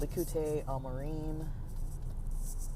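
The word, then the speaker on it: ליקוטי אמרים: And it's called Likutei Amarim. That's not really the correct pronunciation, but it's like Likkutei as one word, and then Amarim as the second word.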